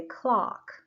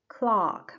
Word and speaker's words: clock: students the thing is with the first one with the short one clock I open my mouth completely so I say clock clock my mouth opens completely but when I want